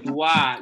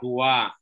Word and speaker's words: doigt: No, le doigt. Le doigt. Se pronuncia doigt.